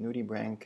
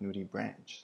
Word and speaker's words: nudibranch: And yes, it is pronounced Nudibranch and not Nudibranch, just so you know.